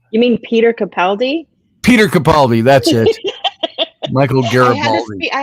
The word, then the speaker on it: Capaldi: mean peter capaldi peter capaldi that's it michael garibaldi i had to speak scotty there for a second it's like okay it rhymes michael garibaldi wasn't he uh um